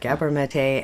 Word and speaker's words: Gabor Maté: Gabor Maté, MD, is a physician, a best-selling author whose books have been published in nearly 20 languages worldwide.